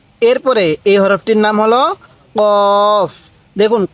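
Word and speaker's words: قاف: এর উপরে এক নক্তাক্তা কফের উপরে দুই নক্তা তাহলে কফ উচ্চারণের সময় হালকা গলার মধ্যে ধাক্কা দিব কফ এরপরে কাফ কাফটা সোজা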